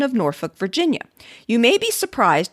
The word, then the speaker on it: Norfolk: it was transmuted to Norfolk. If you run across someone who pronounces Norfolk as Norfolk, it's very likely you're talking to a born and bred Cornhusker."